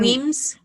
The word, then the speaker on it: Wemyss: And Weems. Well, I call him Wemyss. But I his know it's last name Weems.